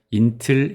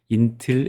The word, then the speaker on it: Intl: 이름이 너무 길어서 int 또는 인틀 API라고 부르거나 IATN API라고도 합니다. 한국으로는 국제와 API인데요. 저는 가장 많이 사용되는 발음인 인틸 API라고 하겠습니다.이 API는 국가별 다양한